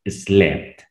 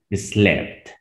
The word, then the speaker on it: slept: Entonces ahí ya vas a pronunciar la E como en español. Slept. Slept.